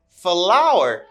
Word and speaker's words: flour: flour flour flour flour and this is flour flour flour the same pronunciation flower flower flower flower